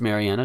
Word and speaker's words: Marianna: And yeah, it's pronounced Marianna.